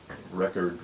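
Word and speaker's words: Recorde: Well, the guy who invented the equal sign, a man by the name of Robert Record with an E on the, a silent E at the end of his name, Record with an E.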